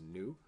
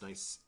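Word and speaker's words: ν: It's represented by the Greek letter ni. Now, I know that looks like it says nu, but I have it on good authority from several native Greek speakers that that is actually pronounced ni.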